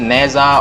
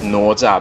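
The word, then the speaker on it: Nezha: in the story so this is nota in our pronunciation some people put us in NASA or NASA I think it's okay it's not so wrong as zucca the real pronunciation is nota but you can co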